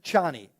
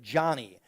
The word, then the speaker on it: Chani: side of that there's channie Chie is played by Zena um and and her name is spelled c h ni it sounds like every time Paul says it Johnny but it's ch chani and so um you